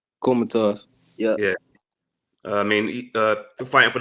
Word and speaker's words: Kholmatov: Is that how you pronounce his name? Kholmatov.